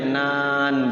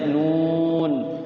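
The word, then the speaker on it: ن: Nah, khawatirnya yang lain juga nun dibacanya nan gitu kan. Padahal dibacanya nun, sod dibacanya sod, qaf dibacanya qaf, toha dibacanya toha ya.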